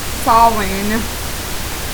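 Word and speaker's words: Samhain: many many other names Sam ha is pronounced SE or sain which I actually didn't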